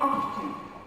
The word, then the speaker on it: often: Silent T is not pronounced in these common words. Castle is never castle. Castle, Christmas, listen, whistle, and often. Although British people say often. Okay? So it's not like wrong, but it's not American.